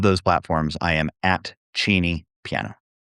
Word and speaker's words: Cheney: And Cheney, like Dick Cheney. Uh, anyway, Cheney.